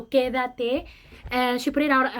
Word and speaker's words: Quédate: It sounds like stay, but she just kind of separated each syllable. So, Quédate.